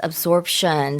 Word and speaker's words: absorption: Yes, absorption. So, there is a P in there, although very difficult to hear, it's spelled A S p i O N absorption.